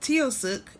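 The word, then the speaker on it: Taoiseach: Um, Tiosuk and it's spelled T I O S E A C H. Tiosuk. Tisuk.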